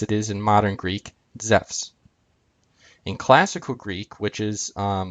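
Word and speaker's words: Ζευς: And Zeus would be pronounced Zephs.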